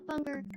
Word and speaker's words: bunger: I'll go talk to them about bunger. The the hard G is really important in bunger. Bunger bunger. Good evening. It's like you're bouncing when you say the word, you know?